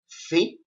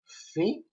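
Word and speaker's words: φι: Now we're gonna learn the letter phi. A Greek word that starts with this letter is the word fantasia. That means fantasy. And another word is phos. That means light. It is pronounced f like forest.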